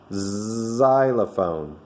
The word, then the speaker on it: xylophone: But there's another word called xylophone, and it starts with the word X, but it makes the sound xylophone. It makes the Z sound, so we'd say a xylophone.